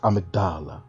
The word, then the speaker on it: Amygdala: It's pronounced Amygdala.